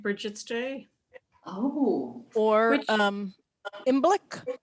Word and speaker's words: Imbolc: Oh, Or Which- Imbolc. How do you pronounce that?